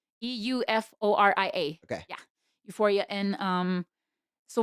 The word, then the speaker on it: Euphoria: It's like Euforia.